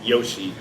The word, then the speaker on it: Yoshi: chinese character but uh the japanese pronunciation of it i'm not mistaken it's yoshi y-o-s-h-i because there was actually